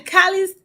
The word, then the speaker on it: Calixte: Calixte. I don't know how to pronounce your last name. Welcome. Good morning. Good morning, Elizabeth. Actually, it's pronounced Calixte.